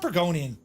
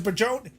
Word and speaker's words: burgeoning: No, it's not Burgonian. It's a burgeoning.